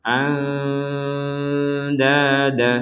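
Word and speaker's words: أَندَادًا: Nun mati bertemu dal samar an dada.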